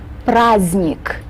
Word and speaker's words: праздник: Right in the middle, we have the letter D, but this letter is mute. It's not pronounced. This doesn't happen very often in the Russian language, but sometimes we do have these mute letters just sort of sit there and don't do anything.